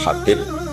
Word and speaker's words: Habib: Ada yang nulis Abi Abdurrahman Habib Asulami. Itu di harakatnya kitab itu ada yang nulis khubb. Yang benar ohih. Yang benar itu bacanya habib.